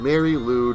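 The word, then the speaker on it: Mari Lwyd: Mary Lude Wikipedia. Why is it spelled like that? It is a holiday tradition from South Wales. So this is a video, a story that Doughboy420 wrote based on a South Wales tradition. It's spelled Marilwyd, and it involves attaching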